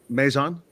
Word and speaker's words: Mazon: So Sam Caldwell and Alexander, do I say Mazon?